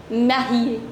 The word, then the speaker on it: mariée: And if a female would write the same thing, she'll say je suis marié with another E. But the pronunciation of both of them is same. This is also je suis marié, je suis marié.